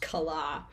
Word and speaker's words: Kala: So the meaning of my name, or the intended meaning, is sunshine, even though officially it's pronounced Kala.